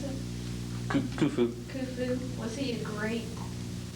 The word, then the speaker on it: Khufu: Was Khufu, how do you pronounce it? Khufu.